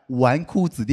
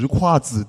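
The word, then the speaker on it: 纨绔子弟: It took me three years to figure out that the word "wanku zidi" is not pronounced as "zhiku zidi", did you know that?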